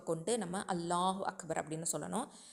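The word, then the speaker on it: اللهُ أَكْبَر: சில பேர் நீட்டி சொல்கிறேன் அப்படின்னு சொல்லிட்டு உச்சரிப்பை பிழையாக சொல்லுவாங்க. அல்லாஹு அக்பர்னு சொல்லுவாங்க சில பேர், இல்லைனா அல்லாஹு அக்பர் அப்படின்னு சொல்லுவாங்க சில பேர், அல்லாஹு அக்பார் அப்படின்னு சொல்லுவாங்க. ஸோ இந்த மாதிரி தவறுதலாக நம்ம உச்சரிச்சிடக்கூடாது.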